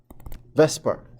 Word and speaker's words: VSEPR: pair repulsion theory alright I know it's not spelled that way but sometimes it's pronounced Vesper theory instead of saying the